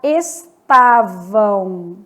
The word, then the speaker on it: estavam: Vamos pegar estavam. Estavam, esse M do final vai ter som de U.